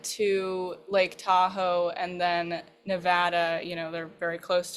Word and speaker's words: Nevada: And I accidentally mispronounced Nevada. I said Nevada because they're all very particular about that. It's Nevada.